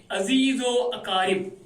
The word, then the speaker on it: عزیز و اقارب: گے، عزیز و اقارب، اس کا تلفظ صحیح تلفظ یہ ہے عزیز و اقارب، عزیز و اقارب۔ یہ واو جو ہے بچوں یہ اس رے کے ساتھ پڑھا جاتا ہے، کچھ بچے جو